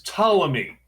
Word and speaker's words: Ptolemy: And it's Ptolemy. You will never hear him take a piss because the P is silent.